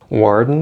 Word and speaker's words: warden: Na pronúncia você percebe que na palavra warden o D não é pronunciado. Você não fala warden, warden, mas sim warden, warden, warden.